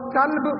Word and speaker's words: کلب: گیا۔ اسی طرح قلب موٹے قاف کے ساتھ قلب ہے، اس کو دل کو کہتے ہیں قلب، اور کلب پتلے کاف کے ساتھ